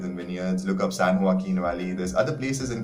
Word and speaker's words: Joaquin: san joaquin valley it's written j-o-a-q-i-n but it's pronounced joaquin that's how you should pronounce it even the actor who played joker his name is joaquin phoenix that's how you pronounce it so san